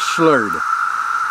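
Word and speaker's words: slöjd: D in Sweden and the old Viking pronunciation of that word is slurred and what that meant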